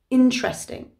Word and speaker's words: interesting: becomes interesting interesting and even though that e is in between the t and the r it's silent so we say it as if it was a t and an r together interesting the verb try for